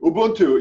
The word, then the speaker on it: Ubuntu: the concept of Ubuntu or how do you pronounce it well do Ubuntu yes that's it that's from a Cantera tidge